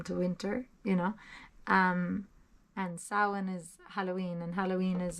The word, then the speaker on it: Samhain: Also, in Patreon yesterday, I put up some stuff about Samhain. And I told you I'd tell you how to pronounce Happy Halloween to you, which is Icha Sauna Hunaditch.